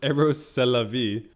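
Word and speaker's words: Rrose Sélavy: including when he adopted his own female pseudonym rose salavi pronounced eros celavi meaning eros that's life eros is the god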